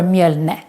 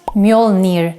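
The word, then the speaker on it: Mjölnir: called either tusham mare but also mjolnir or myalne and not mjolnir like in the movies what is the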